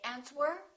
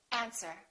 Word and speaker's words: answer: all right one more silent W answer don't say answer say answer these are the most